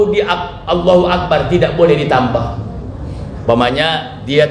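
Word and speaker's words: الله أكبر: dalam kitab kita ini gak boleh pakai wau bukan wallahu akbar tapi Allahu akbar baik ini naik naik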